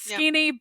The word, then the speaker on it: skene: But then skene, is literally just, scene. We got soft C's and Greek didn't. So it's skene, but it's spelled exactly like scene, but with the K.